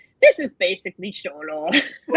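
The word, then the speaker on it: Xolo: Is that how you pronounce his name? Cholo. Oh yes, Cholo, Blue yes.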